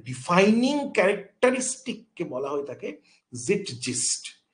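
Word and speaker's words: Zeitgeist: তাহলে কোনো একটা পার্টিকুলার টাইমের ডিফাইনিং ক্যারেক্টারিস্টিককে বলা হয়ে থাকে জিটজিস্ট। তাহলে আবার প্রোনাউন্সিয়েশনটার মধ্যে কি হচ্ছে? জিট জিস্ট, জেড জ, জিট জিস্ট, জিটজিস্ট না কিন্তু, জিটজিস্ট, জিটজিস্ট, ঠিক আছে।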